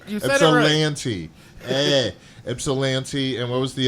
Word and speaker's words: Ypsilanti: Ypsilanti. You said it right. Ypsilanti.